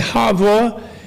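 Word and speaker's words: 哈佛: And Havo is phonetic. Two syllables. Havo like Harvard, you know.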